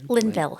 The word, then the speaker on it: Linville: and how do you say your last name Linville Linville yes Linville like yeah okay all right